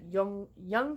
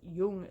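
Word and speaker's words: Yonge: mentioned the fact that Young Street keeps getting mispronounced in the book as Young Street, which is like nails on a chalkboard to me.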